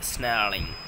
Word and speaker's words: snarling: He should be snarling. Okay, snarling. R is silent in this word.